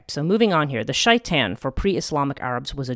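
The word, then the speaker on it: شيطان: Yeah, shaitan, shin teth nun would be the Hebrew letters, and shaitan is the Arabic pronunciation of that word.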